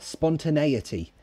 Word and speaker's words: spontaneity: other exactly and Abdullah spontaneity spontaneity nettie that's how it ends spontaneity how can you